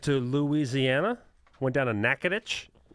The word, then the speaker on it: Natchitoches: Louisiana went down a Natchitoches which is spelled Kudo and a co Dec 8 yes I always pronounces neck a ptosis yeah the oldest oldest